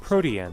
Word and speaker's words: Protean: Oh, it's almost as if they named it after the actual word that is pronounced Protean.